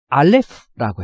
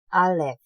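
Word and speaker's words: אלף: 이것의 발음이 조금 특별해요. 그리고 우리 한글에 없는 발음이고 음성학적 용어로는 성문 파열음이라고 부르죠. 하지만 이제 사용하는 실제에 있어서는 소리값이 없기 때문에 우리말로는 그냥 이응으로 표현하는 때가 굉장히 많습니다.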